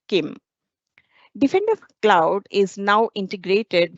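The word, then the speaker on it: CIEM: entitlement management or I as as it is pronounced Kim Defender cloud is now integrated with our Kim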